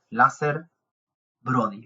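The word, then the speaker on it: Lazer Brody: De hecho, salió porque recordó esa historia un famoso rabino bastante conocido llamado Lázer Brody. Lo voy a pronunciar así por si queréis buscarlo, con Z, Lázer Brody.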